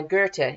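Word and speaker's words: Goethe: uh and the text was actually written by Gerta it spelled goe t e but it's pronounced ger and he was a very famous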